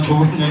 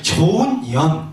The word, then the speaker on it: 좋은 연: 자꾸 이거 발음하실 때 조심하셔야 돼요. 그냥 한꺼번에 착 하면 욕이 됩니다. 나쁜 년, 좋은 년 이렇게. 그래서 살짝 띄워야 돼. 좋은 연. 이게 살짝, 숨을 좀 고르고 가셔야지 이게 불교 용어지.